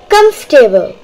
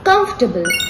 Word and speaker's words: comfortable: Now what about comfortable? That's a good one. It's comfortable, not comfortable.